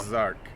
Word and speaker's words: Ozark: the French O-Ark, because the X kind of takes the Z when you combine it with the vowel, so it's Ozark.